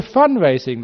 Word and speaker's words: fundraising: We were fundraising last week, 100% fundraising. Did you hear how I pronounced that? There's no D on the end of F-U-N.